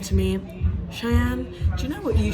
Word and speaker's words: Chaiyenne: Yeah, so And- you pronounce it differently in every language. Yeah. It's really funny. So in English it's just Cheyenne. Yeah, and in Dutch it's Chayenne, and in Spanish it's Chayenne.